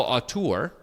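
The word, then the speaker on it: auteur: Uh, but sometimes the guy who's a great actor is just an incredible aur. And Chris, that is how you pronounce it.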